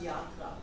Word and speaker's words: Yatra: Okay, so it's Oh, no, actually, in India it's pronounced Yatra.